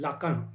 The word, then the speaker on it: Lacan: ठीक है, LACA, जेक्स लाका पूरा नाम है इनका, LACAN, लाका। ये तीन नाम याद रखने हैं, Sigmund Freud, Karl Gustav Jung and जेक्स लाका।